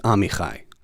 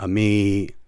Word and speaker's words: Amichai: It wasn't always pronounced correctly. It was usually or something like that, or Ami.